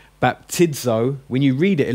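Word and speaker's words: βαπτίζω: Okay, now if you find it in the middle of a word like baptizo, you pronounce it with a DZ. So if it's in the middle of a word, like after an iota, it's going to have a DZ, a Z sound.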